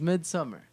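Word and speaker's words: Midsommar: do this here mid mid how do you pronounce midsole more it's Omar it's midsummer it's up there's a no yeah whatever however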